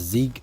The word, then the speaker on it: Zeig: so it's called Z Zig I think it's pronounced Zig right which also means victory in German apparently and it's supposed